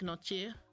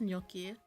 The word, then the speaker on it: gnocchi: I used to pronounce this as gnocchi, but I think it's gnocchi, like the G silent. We'll get you a cup holder for all the toppings, you deserve it.